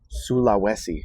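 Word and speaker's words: Sulawesi: How do you pronounce this? Oh, man. Sula Wesi. Yeah. Sulowesi coffee.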